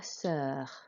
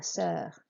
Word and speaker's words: sœur: And sœur, remember it has the O and the E, which are hooked together, so that's like a symbol, and that makes an sound.